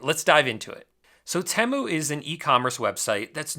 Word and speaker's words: Temu: Bowl ad that taught us that it's actually pronounced temu and not teu so in this video I'll show you a way to drop ship from temu that actually works now to be honest I